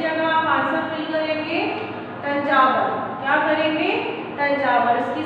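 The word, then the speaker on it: Thanjavur: इसके बाद the Raja Rajeshwaram temple was built in dash, dash की जगह आप आंसर फिल करेंगे तंजावर, क्या करेंगे तंजावर, इसकी स्पेलिंग है TH A N J A V U R, तंजावर, ठीक है।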